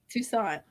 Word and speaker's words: Toussaint: Is it Toussaint? Toussaint? Yeah, Toussaint. Toussaint.